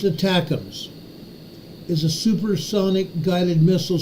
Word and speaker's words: ATACMS: range missiles called attacks atacms pronounced attacks is a supersonic guided